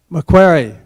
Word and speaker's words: Macquarie: Macquarie.